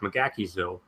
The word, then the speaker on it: McGaheysville: people who live there, it's pronounced McGaheysville because the Irish settled in there and the way they pronounce shit.